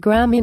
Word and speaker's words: Grammy: I heard he won Granny. How cool is that? It's pronounced Grammy, not Granny, but to me that's not such a big accomplishment.